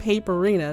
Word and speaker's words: Paperina: The Paper Girls' usernames are paper puns, so they are pronounced Paperl and Paperina. Missy Magic, Sugar Cookie, Paw Pearl, and Paperina joined in the fray.